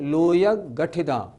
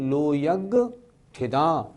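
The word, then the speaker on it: लोयग्गठिदा: कुछ लोग कैसे बोलते हैं? लोयग गठिदा नहीं वो उच्चारण ठीक नहीं लोयग गठिदा नहीं लोयग ठिदा लोकाग्र स्थिता लोक के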